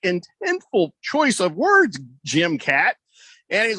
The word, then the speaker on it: Catt: And his partner, Jim Catt, is that how you pronounce his name? Jim Catt, yeah.